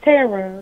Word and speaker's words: Tara: It's Tara, not Taylor.